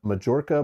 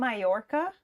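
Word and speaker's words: Mallorca: Oh, now see I see it as Majora, but I'm sure it's like Moroca or something. Is it Mayorca? Mayorca. Is that how you say it? Is a Spanish island in the Mediterranean Sea.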